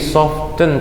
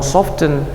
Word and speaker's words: soften: ya oke disana noob jadi soften tulisannya Tapi bacanya dengar-dengar hilangkan ternyata coba iya nggak percaya tengok di Google nanti tulis tokennya kemudian dengar Mereka ternyata nggak ngomong soften bacanya dibuang Tengah jadi souvenir udah banyak bahasa